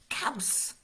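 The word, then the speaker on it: caws: new word this is cows cows cows big mao it's the same sound in the middle cows cows cows cows oh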